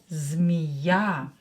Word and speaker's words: змея: Змея. Ударение на букву Я is stressed.